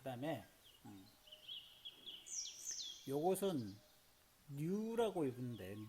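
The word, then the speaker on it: ν: 자, 그 다음에 요것은 뉴라고 읽는데 뉴.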